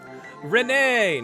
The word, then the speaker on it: Renee: Renee! Nice. I had a feeling you pronounced that E at the end.